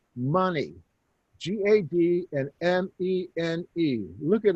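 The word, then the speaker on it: Mene: M-E-N-E, pronounced money.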